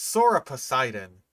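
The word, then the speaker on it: Sauroposeidon: Next contender is the Soroposodon. Also, it's Sora Poseidon. Like it's just the name of a god.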